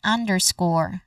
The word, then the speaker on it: underscore: So this means that the letter E in the spelling which is at the end is a silent letter. So this is underscore again underscore.